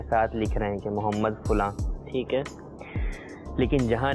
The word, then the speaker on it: محمد: عربی لفظ کے تلفظ کے اعتبار سے چونکہ محمد ہے، میم پر جو ہے وہ پیش ہے، اس اعتبار سے زیادہ بہتر تلفظ کے اعتبار سے ایم یو اسپیلنگ جو ہے وہ زیادہ بہتر ہے.